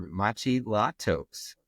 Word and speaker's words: Maciej Latos: Maciej Latos. Welcome, Dr. Latos. Hi. Great pronunciation, my name.